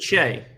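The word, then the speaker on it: Shai: Now it's probably Shay. Remember, because Shay Gilgis Alexander's name is spelled the same as that.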